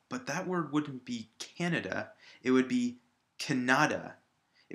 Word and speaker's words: Canada: syllable kannada similarly if i put it at the end on the DA it would be canada and we know that that's not the country we live in we know we live in Canada the first syllable is stressed and the second to our unstressed now here we come